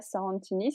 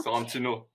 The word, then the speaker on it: Sorrentino: Donc du coup, Batman The Imposter de Mattson Tomlin et de Andrea Sorrentini, si je prononce bien. Sorrentino.